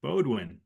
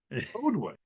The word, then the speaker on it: Beaudoin: I'm going to do something right away and say that my name is Beaudoin. Beaudoin.